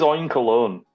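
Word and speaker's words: Oinkologne: that pig Pokemon again I said o colog I think okay it does look like oink cologne doesn't it it is oink cologne yeah in perfume yeah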